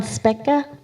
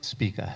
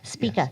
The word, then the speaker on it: Spica: in the Speca? Spica. Spica.